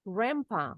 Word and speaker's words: Grandpa: Grandpa, bacanya D-nya silent, N-nya berubah bunyi jadi M. Grandpa.